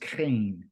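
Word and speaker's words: חן: what he was after that word favor means Cain okay CH aan pronounced Cain okay and what Cain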